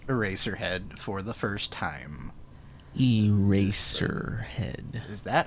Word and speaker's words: Eraserhead: Eraserhead.